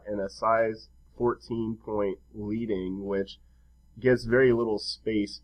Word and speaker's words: leading: and that is called leading. It's also, I've heard it pronounced leading, which I think refers to something that is in, type, as in print press type.